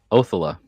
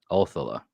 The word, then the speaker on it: Othala: Old Saxon, Old English, the emphasis of the syllable always lands, well, I didn't say always, mostly and usually lands on the front syllable.